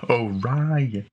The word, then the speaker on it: Orion: And then her sister says, it's pronounced Orion. Yeah, Orion.